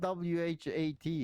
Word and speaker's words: Wat: why weren't you swallowed my name's not what not wh a t it's w a t yeah it doesn't matter yeah still pronounce what yeah so what ell